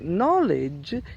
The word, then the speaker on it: knowledge: gaining knowledge that starts with the KN so knowledge is the correct knowledge but if you want